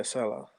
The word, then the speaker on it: Saleh: How you pronounce his name? But Robert Saleh. yeah, Saleh.